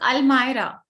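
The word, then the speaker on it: almirah: we say this the correct pronunciation is al-maira how many of you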